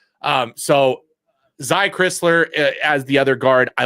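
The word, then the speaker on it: Crisler: I think I was always saying Kriler.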